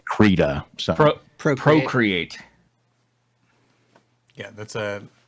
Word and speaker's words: Krita: It's either Krita or Krita. I get the developers say Krita.